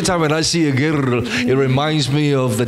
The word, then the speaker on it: гэр: And of course it is pronounced as Gir. So I'm trying to roll the R now. Gir. I like the R rolling. Gir.